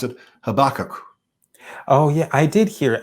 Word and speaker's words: Habakkuk: they all pronounce it habakkuk oh yeah i did hear it's a different stress it's more or less the same way it's a stress a little bit later on into the word yeah yeah we have